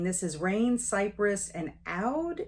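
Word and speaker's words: oud: is rain Cypress and out is maybe how you pronounce it o-u-d and I really uh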